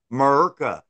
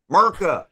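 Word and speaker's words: Murrka: And it's spelled M-U-R-R-K-A, Murka, Murka, you know, and because it'll murk fuck around, find out, get you some murk, get murk and murka.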